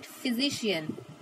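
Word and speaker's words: physician: फिजिशियन हम नहीं पढ़ेंगे, we will call it फिजिशियन. apostrophe, PH means होता है we will pronounce the F, sound करेगा F की तरह.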